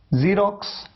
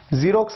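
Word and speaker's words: Xerox: Pronunciation में देखिए एक्स को आपने कैसे प्रोनाउंस किया, ज की तरह।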